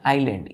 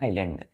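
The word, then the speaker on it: island: आइलैंड। यहां S silent हो जाता है, ILAND पढ़ते हैं, आइलैंड।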